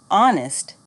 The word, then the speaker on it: honest: me right wrong wrist silent h hour honest air repeat after me hour honest